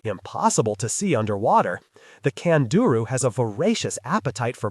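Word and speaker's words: candiru: The worst thing about swimming in the Amazon is the tiny kanduru fish pronounced kanduru.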